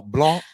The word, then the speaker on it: blanc: did you ask uh Blanc is masculine and has no sound at the end of it but Blanche